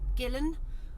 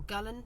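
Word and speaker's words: Gullane: And you pronounce it Gillen or Gullen.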